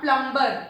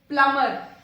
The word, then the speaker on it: plumber: Next is plumber. Not plumber. It is plumber. Plumber. B is silent here.